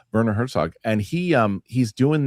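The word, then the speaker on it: Werner Herzog: about in camp shower Herzock I would say it wrong, but Verer Herzog and he um he's doing this accent.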